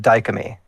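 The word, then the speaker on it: DIOMY: And they pronounce it dyam.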